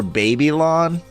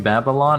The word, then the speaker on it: Babylon: see that booth for baby lon baby are you mispronouncing Babylon or is that like no it's b eb yl o n it's baby lon it is a arena